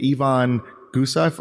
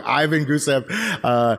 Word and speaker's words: Ivan Gusev: was actually purchased and someone named Yvonne gusoff or you know even who said I'm saying it wrong sir Ivan Mikey I keep saying it wrong Ivan Gusev you know left his